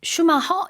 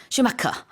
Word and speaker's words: Schumacher: 저도 조금 머뭇머뭇 거렸었는데 특히 이제 슈카 같은 경우에는 우리말로는 이제 슈마허 이렇게 하나 봐요네 근데 영어에서 슈마크 이렇게 하죠 think 이게 영어가 사실